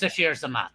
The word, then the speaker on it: Sasheer Zamata: Although I know it's pronounced Sasheer Zamata.